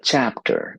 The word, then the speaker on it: chapter: So when you say chapter, you're using stress in the first part, chapter. If you say chapter, the listener will look at you and think, what?